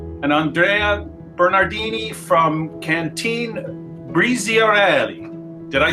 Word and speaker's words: Briziarelli: by Alessandro Giannoni and Andrea Bernardini from Cantine Briziarelli. Did I say that right? Yes, nice pronunciation.